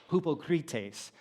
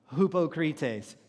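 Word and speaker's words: ὑποκριτής: sound and so in Greek this would be pronounced Hupa cretace so everybody say that repeat it we'll try one more time hupo cretes great so now you can go home and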